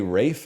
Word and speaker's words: Ralph: is there a reason you say Rafe instead of Ralph? Yeah, because that's how his name is pronounced.